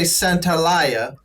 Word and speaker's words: Santaolalla: different attempts at pronouncing i always say centalia very good very very close very very the only